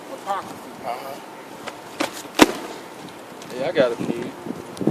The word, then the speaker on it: Apocrypha: Could you pronounce it one more time for me? the Apocrypha. Apocrypha.